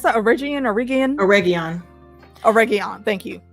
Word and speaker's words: Eregion: Eregion. Thank you. It reminds me of a spice. And I can't remember which one, but that's how oregano.